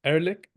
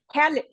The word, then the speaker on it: herrlich: Did I pronounce it right? Erlich? Magnificent? What do you mean? I tried to say Erlich. Yeah, herrlich.